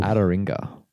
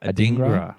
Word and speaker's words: Adingra: Adaringa at Brighton. Adringa? Adringa? No. How do you say his name? Adingra? Adingra. Sorry. Adingra.